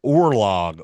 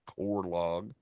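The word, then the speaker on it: oorlog: likely derived from the Dutch word conlog it's pronounced remotely orlock how how do you get that out of out of or orlog orlog not cor log orlog I would have no clue that means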